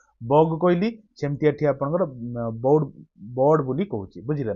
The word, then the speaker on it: baud: चलना देखुना 16 नंबरटा the term bowed BAUD बोर्ड बोर्ड ना pronunciation अपन manage करिए बोर्ड इज ए मेजर